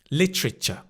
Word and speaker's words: literature: Another way of remembering this is think of the word rich as in a lot of money. If you've got more money, you're richer. Richer. Lit. Richer. Literature.